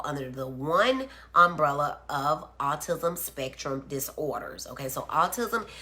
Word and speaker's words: autism: And just so we make sure, it's awe, like I'm in awe, not R, not artist, but awe, AUTISM.